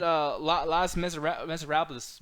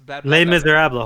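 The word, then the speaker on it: Les Misérables: Yeah, man, I'm looking in the chat to Mauricio saying, Nick, that's why I had Las Miserables. Les Miserables. Holy shit. Somebody clip that because that is the worst pronunciation I've ever heard of anything.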